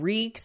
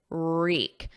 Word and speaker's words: wreak: Reek. There's no W, it's silent. So it starts on a R, and then the vowel is E, reek.